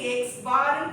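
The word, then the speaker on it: x̄: Arithmetic மீனோட simple வந்து இது எக்ஸ் பார்னு ப்ரொனவுன்ஸ் பண்ணுவோம்.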